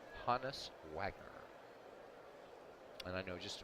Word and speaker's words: Honus: or anything but now you know it is pronounced honest Wagner and I know just about everybody pronounces it wholeness I used to until I learned a few